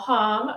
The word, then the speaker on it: Hom: But yeah, to give you a little background, so Hom rhymes with mom is the way I like to say it, but I'll answer to just about anything.